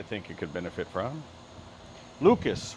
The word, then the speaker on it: Lucas: Lucas rhymes with mucus.